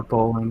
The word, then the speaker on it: Boehlen: Yeah, Boehlen, yeah. It's German.